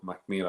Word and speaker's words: Mackmyra: There you go, Mackmyra.